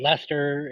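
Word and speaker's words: Leicester: that's how I know it is wester and not wor sister or things like that and Lester instead of Lister that's yeah I I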